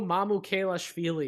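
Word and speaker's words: Mamukelashvili: than like mid to late second round sandro mamu kailash feely yes i finally said that guy's name right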